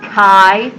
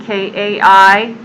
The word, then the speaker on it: chi: is the Greek letter Kai so this is it's spelled like it looks like chai but it's pronounced Kai like k a i Kai Square test and